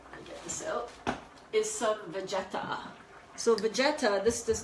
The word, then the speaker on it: Vegeta: couple tablespoons of the Vegeta. Or, no, I'm pronouncing it wrong. It's Vegeta. I'm like, oh, you mean like baguette about it? He's like, yeah, that's it. That's how you say it.